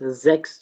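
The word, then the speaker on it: sechs: और अगर ये कॉम्बिनेशन जो है वो ये हो CHS अगर हो, ठीक है, तब हम उसको X प्रोनाउंस करेंगे। फॉर एग्जांपल हमने परसों जो है वो हमने नंबर्स किए थे, तो उसमें हमारे पास जेक्स जो है, ठीक है, हम इसको जेक्स पढ़ रहे हैं, ठीक है, जेक्स।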